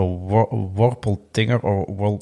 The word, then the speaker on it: Wolpertinger: It's called a Wolpertinger a Wolpertinger. Wolpertinger, yes, Wolpertinger, indeed. yeah, right. And in this particular book, for instance, there's a Wolpertinger, and this is a white cat with duck wings and antlers, right?